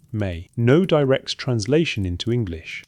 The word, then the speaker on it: ME: The word appears in cuneiform as two signs, Sika, me, pronounced roughly may.